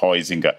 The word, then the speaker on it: Huizinga: O autor holandês, dizem que se pronuncia Huizinga, escreve o Huizinga, meu holandês é fraco, mas o Huizinga, o Huizinga, é um livro maravilhoso e essa edição, com muitas ilustrações, é maravilhosa.